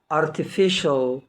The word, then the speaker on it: artificial: يبقى يا جماعة النهاردة المقطع بتاعنا مقطع مهم جدا، وقلنا ما بينطقش السي لوحدها، طبعا السي اي اي والسي اي اي والسي اي او مع بعض بتنطق شين.